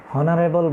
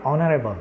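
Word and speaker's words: honorable: যেমন এখানে পরেরটিতে আমরা দেখতে পাচ্ছ, যেমন এখানে আমরা কিন্তু হনারেবল বলি নাই, আমরা বলেছি অনারেবল, আমরা ওর উচ্চারণ করেছি, দ্যাটস ওয়াই আমরা কি অ্যানের ব্যবহার করেছি, আমরা এখানে কনসোনেন্টের ব্যবহার করিনি।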